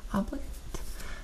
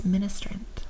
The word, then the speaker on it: Ministrant: creature token with flying she's a lot like obligant or yeah obligant I have mispronounced this before now it's ministrant I have combined the two words into a word that doesn't exist it also does very